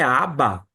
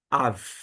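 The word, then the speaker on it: אב: deve estar se perguntando não é aba aba é pai em aramaico em hebraico é Av Av Ok quando a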